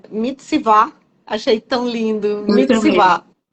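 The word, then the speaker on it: מצוה: eh o no original do hebraico a palavra pronuncia mitsvá achei tão lindo ah é direcionar apontar comandar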